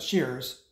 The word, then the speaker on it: Shearers: Looks like Shearers, and they pronounce it Shears.